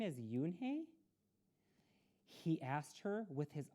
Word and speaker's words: Unhei: turning around it was joey your name is yunhei he asked her with his eyes open wide yoonhi looked quickly at mr kim then turned to joey she nodded slowly yes it's pronounced yoon hey and it means grace mr kim added yoon